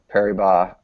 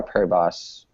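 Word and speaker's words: Paribas: Indian Welles the BNP Perry BBA uh is it Adam is it Perry b or Perry boss Perry B open I think per don't pronounce the S uh we'll be there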